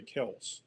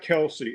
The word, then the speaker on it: Kelce: It's not Kelsey, it's Kels.